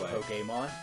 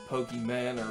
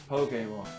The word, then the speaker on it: Pokémon: That's how you pronounce it, by the way. Pokemon? Not Pokemon or Yeah. whatever the heck other people say. Right. Pokemon.